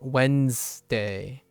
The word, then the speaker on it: Wednesday: to emphasize the ness because there is a syllable here, but it's kind of lost. So it's Wednesday, like sun, sun, Wednesday.